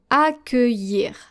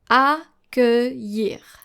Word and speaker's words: accueillir: The double L here, every time you see an I and then an LL and then followed by a vowel, most of the time, not every time, but most of the time, it's going to be pronounced just like the letter Y.